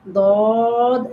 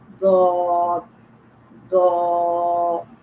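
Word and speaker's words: ض: Then dod alif zabar do, dod waw pesh do, dod yazir doi, do do doi. Okay. Now so this is pronounced from the edge of the side of the tongue.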